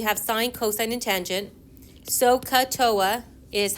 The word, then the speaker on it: SOHCAHTOA: SOHCAHTOA is how we tend to memorize them. It sounds like you're saying SOHCAHTOA, right? SOHCAHTOA. You're not soaking a toe.